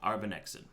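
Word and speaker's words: Arbinexin: I need to spell it out so I can pronounce it right. You just scroll over. Arbanexin? Arbanexin.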